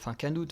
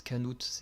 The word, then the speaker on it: Knut: puisque Knut va faire Canute va faire son retour. Puisque ça s'écrit Knut, mais à chaque fois ils disent Canute, je comprends pas.